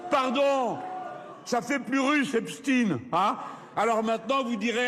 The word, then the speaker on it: Epstein: L'occasion pour lui de revenir sur le supposé silence médiatique autour de l'affaire Epstin et Jean-Luc Mélenchon de jouer sur la prononciation du nom du pédo criminel américain Jeffrein.